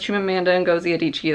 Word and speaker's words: Chimamanda Ngozi Adichie: say her name as Chimamanda Ngozi Adichie that's how I heard an interviewer say it's just how I'm gonna say it yeah so I heard